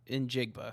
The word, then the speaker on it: Njigba: Njigba, that's how you say it.